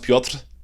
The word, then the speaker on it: Piotr: It's pronounced Piotr, I think.